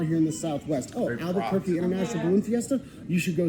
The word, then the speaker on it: Albuquerque: Albuquerque. Am I saying it right? Yeah, you are. Albuquerque.